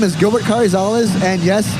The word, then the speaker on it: Carrizales: My name is Gilbert Karales. And yes, it's a long mouthful of last name, but it's Karales. Or if you want to go Mexican, it's Karisales. Karales.